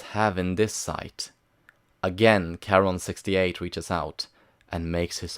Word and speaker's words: Charon: He's thinking of Charon, with a K.